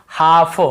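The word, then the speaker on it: half: जैसे काफ, काफ, काफ, हाफ, हाफ, काफ, हाफ, एल को यहाँ पे नहीं पढ़ना है। काल्फ, हाल्फ नहीं पढ़ना है, काफ बछड़े को बोलते हैं, हाफ यानी आधा।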